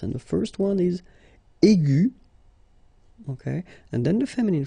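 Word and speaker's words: aiguë: So aigu will become aigu. Another example is ambigu, and it will become ambigu. Okay, so you don't modify the way to pronounce them.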